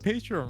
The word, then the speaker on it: Patreon: You said Patreon right. Oh, Patreon. Nah, I Patreon. mean, just screw English. It's just too hard. You It's- say it in French. we. The person's name is, Patreon.